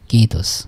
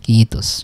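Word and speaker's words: kiitos: তাই না এই উচ্চারণটা কিন্তু হবে আই এর উচ্চারণ ই হয় তাহলে ডাবল থাকার কারণে ডাবল মত মানে কি কিস কিস ঠিক আছে কিস মানে থ্যাংক ইউ ঠিক আছে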